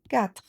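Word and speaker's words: quatre: So it is four in French is kat. So it's short and you drop the e at the end.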